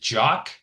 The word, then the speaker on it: Jacques: S is silent. And it's Jock.